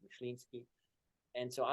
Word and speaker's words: Myslinski: last name, to say it right, is Polish. It's Myslinski.